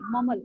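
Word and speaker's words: mumble: वो मम्बल करती थी, मम्बल. बी is silent, verb sound में बोलने, दिस इज जस्ट मम्बल.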